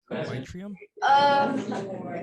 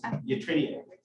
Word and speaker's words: yttrium: Yttrium? Can you repeat that one more time? How do you say the element name? The Y? It's yttrium.